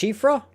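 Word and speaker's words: Siofra: south of the Deep shifra Well in kalid and one actually say CRA it's actually pronounced shifra the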